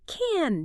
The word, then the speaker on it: can: When a speaker stresses the affirmative can, the vowel is noticeably lengthened. It becomes a drawn out flowing open sound. I can do that.